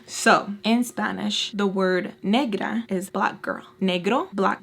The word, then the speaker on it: negra: I said negra and she was like, oh, thank you guys for educating me.